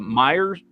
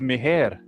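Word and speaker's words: Meijer: When I got here, swear to God, the way it's spelled, I thought it was Meher.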